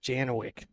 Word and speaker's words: Janowiak: Who, Janowiak? He says Janowick. He doesn't even I know.